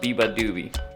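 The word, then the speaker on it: Beabadoobee: By the way, I just looked it up and it's pronounced Biba Doobie.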